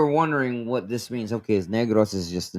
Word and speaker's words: Negros: First off, it's not pronounced as negro. It's pronounced as negros.